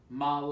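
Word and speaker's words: модель: it's usually all but when it's in an unstressed position when it's unstressed in the word it sounds like ah like in this word model ah goal mala goal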